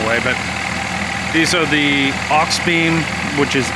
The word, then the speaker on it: Auxbeam: These are, and now mind you, we got a mailbox in the way, but these are the aux beam which is spelled AUXBEAM Q40s.